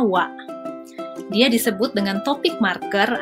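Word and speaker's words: は: Nah, wa ini ditulis dengan hiragana ha, tapi dibacanya wa.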